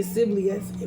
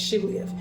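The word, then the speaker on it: Shibboleth: They would say Siblioth when it's Shiblioth.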